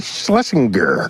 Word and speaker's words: Shlesinger: And we have in studio comedian Iliza Shlesinger.